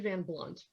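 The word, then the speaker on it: Van Blundht: And it's this guy named Eddie Van Blunt, who sure, the H is silent.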